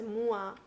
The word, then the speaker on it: moi: good at french and it is moi and if i'm not wrong it is pronounced as mua so this is very